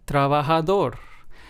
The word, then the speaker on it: trabajador: In these words, we stress español, estoy, feliz, and trabajador. So as you can hear in all four of these words, we stressed the very last syllable because, of course, this is what this rule asks us to do. And of course, these words